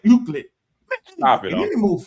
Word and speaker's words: Euclid: Euclid is the man's name. Euclid. I said that. No, you didn't. You said Euclidean. And then I said Euclid.